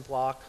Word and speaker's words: blot: It's called a Western blot.